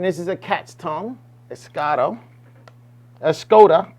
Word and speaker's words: Escoda: is a cat's tongue escado a skoda however you want to pronounce i pronounce it like a english i guess i should pronounce it like spanish escoda brush i'm sorry a